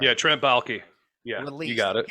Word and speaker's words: Baalke: The statement that Urban Meyer and the general manager, Trent Baalke, I don't even know if I pronounced that right. Yeah, Trent Baalke.